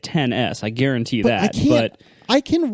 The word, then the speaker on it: iPhone XS: the iPhone XS just how do you say that without it yeah I can tell you apple is going to say it 10s I guarantee that I